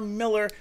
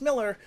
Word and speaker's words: Mueller: authority with us miller spelt like mueller but pronounced miller from smitten kitten and